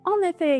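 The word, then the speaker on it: en effet: geldiğini biliyor Şimdi de on ve F'ye geçelim bu sefer sondaki t'yi duymuyoruz on ve F şeklinde telaffuz ediliyor on ve F diğerlerine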